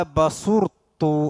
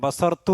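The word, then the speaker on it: بصرت: ഖാല ബസുർത്തു. അവിടെ ഓതുമ്പോൾ ശ്രദ്ധിക്കണം. ബസർത്തു എന്നല്ല, ബസർത്തു എന്നല്ല, ബസു ഉറ എന്ന്, ബസുർത്തു എന്നാണ്. ബസുർ സ്വാദിന് വമ്മാണ്, റാക്ക് സുക്കൂനാണ്.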